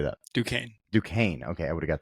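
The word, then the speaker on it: Duquesne: know how how do you say that due du Kane okay I would have got that so wrong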